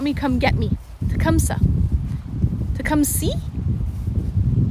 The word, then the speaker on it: Tecumseh: Tecumseh? I thought it was Tecumseh. Tecumseh. Tecumseh. Maybe it's Tecumseh, but this area is Tecumseh. No. Silent H.